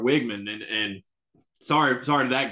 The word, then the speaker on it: Weigman: Connor weigman or Connor Rebecca's been saying his name wrong it's kind of wigman and sorry sorry to